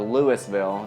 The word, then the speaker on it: Louisville: And it's pronounced Louisville, not Louisville or Louisville. It's Louisville. Louisville. Get it right.